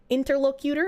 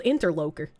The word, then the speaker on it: interlocutor: I just thought it was interloker. I apparently had just been pronouncing it wrong my entire life.